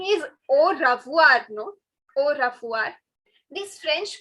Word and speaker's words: au revoir: So, you know, while pronouncing, you can actually skip pronouncing this. All right? Au revoir. Au revoir. You know, actually they pronounce this, but since we don't have that accent, no, it doesn't sound right. So instead, we will just pronounce it as au revoir.